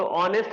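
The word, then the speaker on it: honest: बोल रहे हो तो ऑनेस्ट आप कैसे बोलेंगे इस तरीके से बोलेंगे ऑनेस्ट राइट तो क्या हो गया बड़ा आ गया क्योंकि ए साइलेंट है तो क्या हो गया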